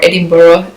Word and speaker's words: Edinburgh: So we flew to Edinburgh, or Edinburgh as the locals told me to pronounce it.